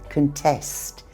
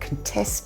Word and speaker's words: contest: Notice this verb, contest. The stress is on the last syllable. You probably know the noun, a contest. That's like a competition, but contest is a verb and it means to challenge results.